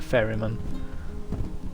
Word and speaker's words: ferryman: I could be wrong, maybe it is ferryman and ferrywoman, but I'm pretty sure it's just ferryman. And you don't pronounce the man so strongly.